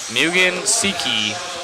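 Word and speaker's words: Mugen Seiki: Mugen Siki is the way that I was learned to pronounce it.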